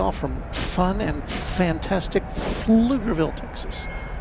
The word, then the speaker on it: Pflugerville: Mark G says how do you all from fun and fantastic Pflugerville, Texas? I think the P is silent. Or the P's are silent.